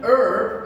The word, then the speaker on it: herb: careful in america an herb again we hide the h the first sound we hear is the e sound the phonics for expert